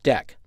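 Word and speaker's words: deque: blocking cues and others called DQ which is normally pronounced deck explore the API documentation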